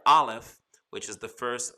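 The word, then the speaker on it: א: You know, the Aleph is really the picture of an ox head and an ox head of strength. But as a letter, it is silent.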